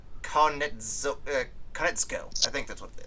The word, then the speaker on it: Konietzko: Directed by Dave Filoni and written by Michael Dante DiMartino and Brian I can never pronounce this guy's last name. Konietzko.